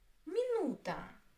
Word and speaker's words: минута: Минута. Минута. Minuta. Three. Minuta. Minuta. The stress is on U.